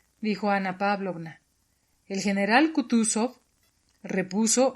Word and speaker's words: Kutuzov: El general Kutuzov repuso anunciando la última sílaba sov como un francés, quitándose el guante de una blanquísima y minúscula mano y frotándose con él los ojos.